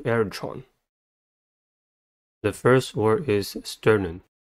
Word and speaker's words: sternum: the first word is sternum sternum has two syllables and the stress is at the first one the first syllable is